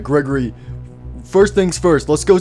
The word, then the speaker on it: Gregory: out of here what my name's not gregor lee it's gregory say my name right oh my goodness all